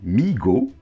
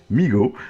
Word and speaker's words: Mego: Donc Mego, prononcé Migo, M-E-E-G-O, ils le disent bien, prononcé Migo, c'est rigolo, hein.